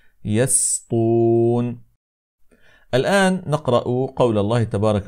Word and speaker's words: يسطون: هنا اخواني الكرام انه يجب ان ننتبه الى السين لانها تجاور الطاء فالبعض يقول هكذا يسطون يسطون فهذا لا يصح انما يجب ان ننطق السين مرققه هكذا يسطون الان نقرا قول الله